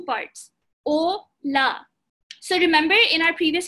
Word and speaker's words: hola: And H is silent. So you say O and then LA would be la. O, la.